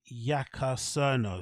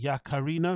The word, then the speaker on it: Yaccarino: Linda Yaccarino, is it Yaccarino?